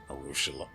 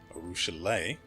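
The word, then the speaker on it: Arueshalae: ravenous larva on me arushala arushalay it's going to take a bit before i adjust to pronouncing her lame like that she said that's how her name is pronounced so we'll roll with it arushalay pauses and takes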